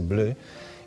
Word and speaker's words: blö: Ahora música indie, música que nos trae un dúo da Coruña que se fan chamar Blo, bueno, se pronuncia se Blo, e que, bueno, son maravillosos.